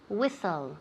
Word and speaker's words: whistle: whistle great good repeat whistle excellent whistle whistle now be very careful latte here the tea is right we never say whistle whistle okay so it's whistle whistle the t is silent next term to risk